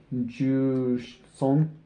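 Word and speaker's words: 十三: In Japanese, to say 13, you would say 110-3, which would be Ju-son.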